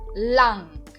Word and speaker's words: lang: Então, por exemplo, a palavra lang. Lang. Vocês percebem que eu estou acentuando a vogal A.